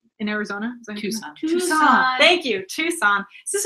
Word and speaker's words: Tucson: I ordered the Tuscan chicken once at a restaurant, and I will never forget now how to pronounce Tucson.